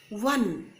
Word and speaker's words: one: Okay, now before the word one, it is pronounced as if it began with W.